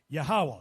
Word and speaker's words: Yahweh: The name Jehovah, translated in the Lashon Kodash, is pronounced Yahweh.